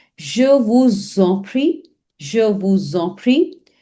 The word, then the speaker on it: je vous en prie: So the correct pronunciation is je vous en prie.